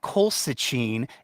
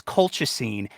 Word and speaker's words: colchicine: to pronounce them and she'd know it's not cold Sachin it's colchicine and it's used for gout